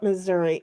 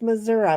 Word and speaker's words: Missouri: It's not Missouri. It's Missouri. My mother used to beat the crap out of me if I didn't pronounce it right.